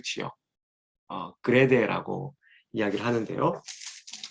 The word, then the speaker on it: 그레데: 자, 지금 이제 디도서와 관련하여서 한번 디도가 머물렀던 그 지역, 그레데라고 이야기를 하는데요. 원래 크레테라고 발음을 해야 되겠죠. 있는 그대로 발음을 하자면, 자, 바로 요 섬입니다.